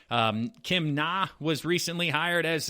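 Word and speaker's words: Kim Ng: Like I said, Kim Na was recently hired as or Kim Ang, I believe it's pronounced, NG is the spelling of the last name there, so I apologize.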